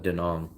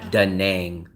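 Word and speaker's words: Nẵng: with Hong Kong or do you call it dang what do you call it will I call it dong rhymes with Hong Kong all the locals that we know call it dong they don't call it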